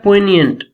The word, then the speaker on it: poignant: Okay, यहाँ पे एक वर्ड है poignant. इसमें जी साइलेंट होता है और ये इसका मीनिंग होता है आपके पास सैडनेस और रिग्रेट को बोलते हैं.